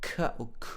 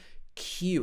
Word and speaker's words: Q: e p then we've got q it's not cut it's q it's got a y in the middle q